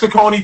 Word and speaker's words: Saucony: they Bobby, first of all, I love how you always properly pronounce brands because it's Saucony feather for me.